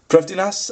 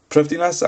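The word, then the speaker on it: Prifddinas: gauntlet go from the priftiness i believe it's pronounced yeah proofiness and just giving that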